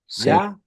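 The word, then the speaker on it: יה: e por eso es que si nosotros leemos y Hey B Hey sí acá vamos a leer como ya o como ye sí correcto ya o ye sí oh Y uno dice Jehová bueno con ese criterio podemos decirle ya Oye pero pero pero pero en los salmos nosotros vemos Que a esto se lo lee como ya sí el y en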